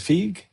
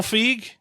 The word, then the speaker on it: Feig: This uh Peter Peter Pete I'll pronounce I'll mispronounce the name. Is it Fig? Who's Pete? Pete Paul Paul Feige.